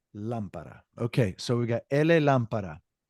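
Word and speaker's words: llamar: so we got lampar now the Double L primarily in most countries Argentina it sounds like a J ja jaave but most countries will pronunciate it like a y so y yeah definitely not a la La it's not La it's y that that double L's y y so we're gonna say a y everybody some countries might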